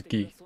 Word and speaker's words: Guy: So his name's not pronounced as Guy, it's pronounced as Gi.